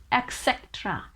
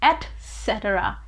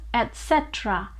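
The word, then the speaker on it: etc.: they pronounce it as etc etc which is a wrong pronunciation it is actually pronounced with t sound so it is etc etc so the word is pronounced as etc etc example my drawer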